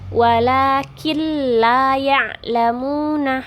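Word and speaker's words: ولكن لا يعلمون: ditasydidkan tapi tidak didengungkan jadi bacanya bukan Walah kill layang lamun ah bukan seperti itu Tapi bacanya walakin layang lemu nah ditasydid tanpa harus didengungkan nah begitu juga ketika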